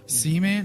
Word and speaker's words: Seaman: this is why Dreamcast see man is that see man it's literally called CB c EA a man if you say C mess II AM AM you're saying it wrong he goes no man